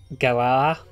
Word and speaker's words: Galar: This could just be me being Australian, but like Galar, like I cannot pronounce the R in Galar. Like if I do, it sounds like I'm saying like Galar, as in like a ball or some shit.